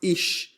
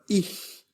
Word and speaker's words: ich: This sound is made by placing the tongue between the upper molar teeth or the upper teeth as if it were a hissing sound. like the cats. The correct pronunciation is not ish but if Repeat after me again.